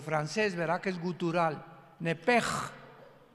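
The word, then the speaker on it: נפש: Pero la sh en hebreo se pronuncia como J. Entonces se pronuncia nep como el francés, ¿verdad? Que es gutural. Nepej.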